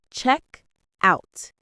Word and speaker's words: checkout: Check out. Checkout. The two words are pushed together with the stress on the first one.